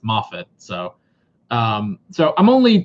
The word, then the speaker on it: Moffat: It's pronounced Moffat, right? I think originally when I tried pronouncing it, I said Moffat, and then a lot of you guys were like, no, it's Moffat.